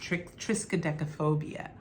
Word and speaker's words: triskaidekaphobia: I believe it's pronounced triskaidekaphobia. And this number 13.